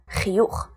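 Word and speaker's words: חיוך: When it comes at the end of the word, like chiyuch, the word for smile, it's always pronounced ch.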